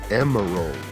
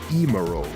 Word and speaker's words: Emerl: to draw more portraits you may notice how i'm pronouncing their names right emerald and g-mural this surprisingly is the correct way each is pronounced as the japanese names emeru and jimaru seem to line up though if you pronounce them like emerol or gemmarole i won't tell anybody as one is built